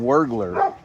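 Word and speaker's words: Wuergler: Just say it's like burglar with a W, right?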